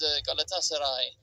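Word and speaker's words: Galatasaray: The last bit of the name rhymes with high as well. It's Galatasarai on high.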